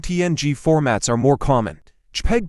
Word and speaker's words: JPEG: JPEG, pronounced JPEG, is a compressed graphics format that attempts to reach a balance between image quality and file size.